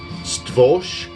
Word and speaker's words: Stworz: I also have a split that they did with Stworz, which is how you pronounce it, S-T-W-O-R-Z.